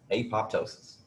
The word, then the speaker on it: apoptosis: process of cell death, apoptosis. Remember I told you I was going to change my pronunciation of that to apop.